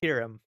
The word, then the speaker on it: Kirum: So to pronounce my name is Kirum. kind of like Kira, right?